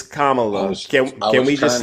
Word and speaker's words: Kamala: you're making excuses now that we know it's Kamala can can we just say comma or you